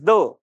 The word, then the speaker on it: Ye: was actually pronounced as okay so it was pronounced says the and now if you read it what it